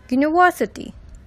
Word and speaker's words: university: example university this word it begins with a vowel letter but in fact it is the consonant sound the letter u is verbal letter but let's look at the pronunciation like university it is a consonant